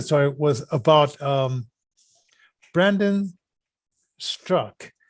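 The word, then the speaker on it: Straka: was about um brandon strzok now some people say it's brandon strucka because it's the a it's a s-t-r-a-k-a and he says that the last a is silent and i didn't know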